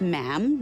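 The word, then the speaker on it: ma'am: majesty and after that it's just mam rhymes with jam and it's always a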